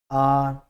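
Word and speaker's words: hour: में जितने भी हैं यहाँ तक इनमें एंच साइलेंट रहेगा। एयर, एयरस, आर, ऑनर, इस तरह से हॉनर हम नहीं पढ़ेंगे, हावर नहीं पढ़ेंगे, इनमें हम एन का प्रयोग जो है वो करेंगे।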